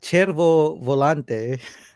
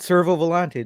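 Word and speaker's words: Cervo Volante: the aorus uh and i got corrected on pronunciation um the chervo volante um big crown pointer date it's not servo velante don't don't tell people servo it's terrible um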